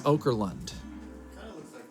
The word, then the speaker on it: Okerlund: Eric oka fer you know I've I said his name wrong once a long long time ago and then now I just randomly said it wrong before we were going live here and now I can't say it right anymore it's Okerlund and I know it's over